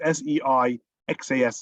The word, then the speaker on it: Seixas: Seixas, S-E-I-X-A-S is pronounced Seixas.